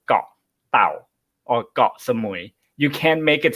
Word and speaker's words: Koh Samui: Yeah, actually, first time I said Koh Samui, and then Note was the one who's like, no, nobody, that's wrong. You don't say it like that. And then I'm like, well, how do you say it? And he's like, it's Got Samui. So that's the Thai way of saying it, because Got means island.